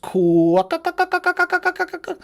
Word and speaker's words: quokka: Do you know that it's pronounced Quokka?